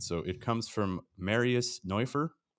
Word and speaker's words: Neufer: So it comes from Marius Neufer, or if you want to pronounce it like a real German speaker, it's Marius Neufer.